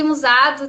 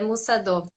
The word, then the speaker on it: Musado: É, remete ao coreano, que é o caminho do guerreiro, aí é Musadô.